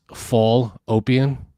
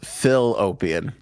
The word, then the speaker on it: fallopian: p i a n that's good for you though because I was going to spell it pH so it's fall opan yeah I thought it was Phil opion I was going to spell